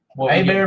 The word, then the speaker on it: Hebert: A-Bear Meats, Louisiana. Just get online, type in A-Bear, and that's spelled Herbert, Hebert, meats and specialties.